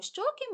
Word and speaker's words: щоки: із цих складів наголошений гукаємо слово щоки ми довго тягнемо звук О значить він наголошений Він стоїть у першому складі тому перший склад що у слові щоки наголошено тепер робимо звуковий аналіз